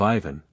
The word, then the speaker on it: Ivan: from the chernof government the accent falls on the second syllable of Ivan on the first of